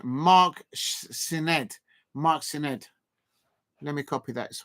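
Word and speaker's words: Sneyd: Pronunciation Mark Sined.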